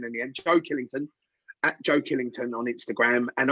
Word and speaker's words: Killington: at joe killington uh always say killing with t.o.n written on the end because because i speak cockney i don't say my name properly i say joe killer okay which sounds like